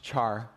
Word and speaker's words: char: often pronounced char.